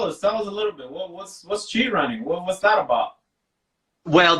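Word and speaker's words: ChiRunning: it as well and essentially it's spelled CH I and then running behind it so she running H I and that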